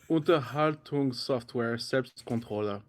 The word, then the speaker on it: Unterhaltungssoftware Selbstkontrolle: Hey, so it's pronounced Unterhaltungssoftware Selbstkontrolle.